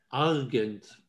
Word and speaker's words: Argent: Argent schreibt man wie Agent. Argent.